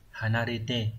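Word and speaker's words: 離れて: Như vậy chữ ly sẽ đọc là hanarete.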